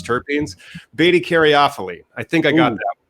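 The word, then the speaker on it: beta-caryophyllene: See, these are just so much fun to try to remember how to pronounce terpenes. Beta caryophyllene.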